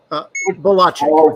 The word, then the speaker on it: Bielaczyc: Belchek or Bel? Bielaczyc.